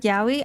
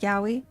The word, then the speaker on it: yaoi: Most people say it like yaoi. I say it like yaoi. If you think about it, just an instance, right? Okay, it's yaoi, but if you say it fast, it's just yaoi.